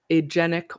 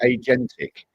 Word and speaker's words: agentic: AGENIC. No, agentic. So like an agent. It's actually agentic.